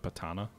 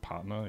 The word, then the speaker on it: Patna: you not hit that sam just north of patana you don't have the range north of what patana east of delhi uh patna yup you're right i can't pronounce words hooked